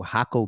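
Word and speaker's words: Jacó: that I went to hako beach but it's spelled with a J and it's a black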